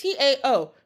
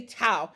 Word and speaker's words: Tao: Even like Taoism, right? It's Tao. Most people say Tao. It's not Tao.